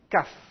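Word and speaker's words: כף: Kaf. Le kaf, avec un dagesh, se prononce K, normal.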